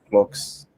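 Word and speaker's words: clox: I pronounce the name C locks, but you can say it clocks. I say it clocks or even clock, where you pronounce the X like the Greeks do it if it makes you happy.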